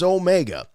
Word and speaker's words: Omega: i get someone saying swank's saying the name wrong it's omega and so i have adopted and i have to think about it before i say it adopted the pronunciation omega which is okay and now i'm seeing people saying rfr gets it wrong every time it's not omega it's omega with two e's here's what here's my